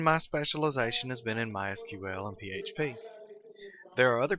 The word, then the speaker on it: MySQL: as you can tell I've been calling up MySQL that is the correct pronunciation however it is also commonly called my sequel we hear it called that don't be confused